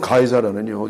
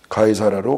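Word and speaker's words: 가이사랴: 여러분 가이사라는요 이게 유럽식 발음이고요. 원래 영어로서는 시저예요.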